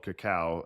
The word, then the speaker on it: cacao: or what, but I always thought people were mispronouncing cocoa. yeah, the bean itself is called cacao, and then cocoa is more of one of the products that's from the bean.